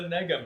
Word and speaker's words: nega: It's called the nega missile. I don't even want to say that. For whoever's watching, it is spelled NE Ga. Neg. The mega miss like mega but with an N.